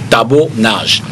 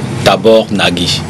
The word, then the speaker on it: Tibor Nagy: qui m'a été rapporté, qu'on prononce, qu'on dit plutôt Tabo Nage, parce qu'il est hongrois de nationalité. Okay. Et ça se prononce d'origine. Il est hongrois d'origine et ça se prononce dans son origine. Et la personne qui me disait s'est bien marrée quand je lui ai dit Tabor Nagi.